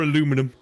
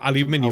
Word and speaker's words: aluminium: Or aluminum. Oh, could be. Yeah, yes. Yeah. I hate that pronunciation. Aluminum. It's the only way I can say it, because I can't say it our way. Well, aluminium.